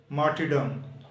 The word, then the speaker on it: martyrdom: Defence, दफा, brave बहादुर, attempt कोशिश करना, जिद्दोजहद करना, मार्टिडम शहादत। यहाँ पर आर साइलेंट है, ये लिखा तो जाएगा लेकिन पढ़ा नहीं जाएगा। इसके बाद वर्ड आता है